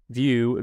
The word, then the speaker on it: Vieaux: so that'd be view v-i-e-a-u-x yep at finlocker at finlocker and um it's pronounced View and obviously this episode